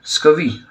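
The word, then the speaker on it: scurvy: तो सबसे पहले पढ़ते हैं कि अगर विटामिन सी किसी इंसान के अंदर कम हो जाए तो एक स्कवी डिसीज़ है, इसका आर साइलेंट होता है।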